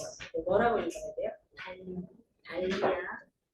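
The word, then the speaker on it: Dahlia: 달리아 DAHL까지가 달이에요. 달. 여기가 마이클 달이라고 하는 사람 이름이거든요. 그래서 이거를 다리아라고 읽으시면 비누회사랑 저는 절대 개탄다고밖에는 달리 할 말이 없습니다. 이거를 달이라는 사람이 때문에 생긴 이름인데 이걸 자꾸 다리아라고 하시면 제가 정말 곤란해요.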